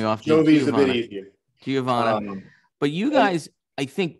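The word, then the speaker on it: Geovanna: Could you please pronounce her name for me? Because I always get it wrong. Giovanna.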